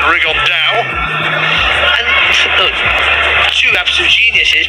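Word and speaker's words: Rigondeaux: three weeks and he's T's talked about fighting rig Ono or as he's correctly pronounced with the uh Spanish accent rig On Da and look two absolute Geniuses but it could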